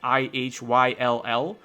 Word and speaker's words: Ihyll: But if you just gloss those together, you can still end up with ill or something quite like ill.